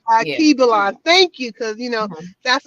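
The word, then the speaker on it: Alkebulan: Al Kebalon, that's one of the names. Yeah. Kibelon.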